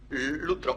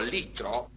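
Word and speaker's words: λυτρόω: que es el verbo lutro o litro. Este verbo lutro o litro, me da lo mismo, pronunciad el griego paréntesis.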